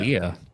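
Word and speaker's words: Lehr: Leah. As in King Leah, L-E-A. It's spelled slightly differently. The German spelling, L-E-H-R, I think. Yeah. Leah. Leah, like Timothy Leah.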